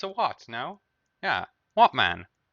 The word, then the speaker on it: Wattman: So you can't actually push it higher than that without, something other than how do you pronounce it? Wattman? Watt? It's a watt, no? Yeah, Wattman.